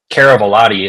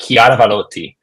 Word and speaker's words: Chiaravalotti: And my last name, Caravalati, it's Italian. You pronounce it Chiaravalotti.